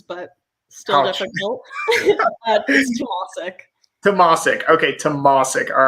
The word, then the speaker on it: Tomasik: the easier ones but still difficult tomorrow okay tomasik all right so everybody memorized that and store